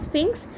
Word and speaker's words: Sphinx: The pronunciation is Sphinx.